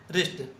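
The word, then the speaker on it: wrist: बी का 85 वि letter is silent in wrinkle rape रिस्ट तीनों में क्या साइलेंट है? तीनों में डब्लू साइलेंट है। जब भी आर से पहले डब्ल्यू लिखते हैं तो डब्ल्यू साइलेंट होता है।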